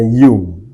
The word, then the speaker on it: Jung: Indonesia tulis Jung Iya tulisannya Jung bacanya Yung gitu ya Ee nah